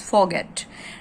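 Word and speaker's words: forget: डिड यू फॉरगेट, फॉरगेट word में देखिए are silent है, this is फॉरगेट। डिड यू फॉरगेट your file at home, कि क्या तुम अपनी फाइल घर पर भूल गए थे।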